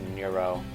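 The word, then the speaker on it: Newro: It's a very interesting way to say Neuro. They spelled it N-E-W-R-O. I imagine it's supposed to be pronounced Neuro. So, yeah, pretty interesting way to spell Neuro, but that's pretty cool.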